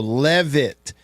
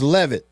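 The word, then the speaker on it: Leavitt: He said his last name is pronounced like the E is pronounced in Lebby. So Levit. Sam Levit. I think I said leave it earlier, didn't I? So it's Levit.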